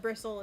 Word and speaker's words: Bristle: But bristle is like said like a bristle of a brush, not like somebody mispronouncing it.